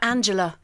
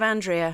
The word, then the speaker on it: Andrea: But what do people get wrong, usually? Angela. Angela. Instead of Andrea.